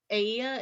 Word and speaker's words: Aeaea: And Aea is spelled Aeaea.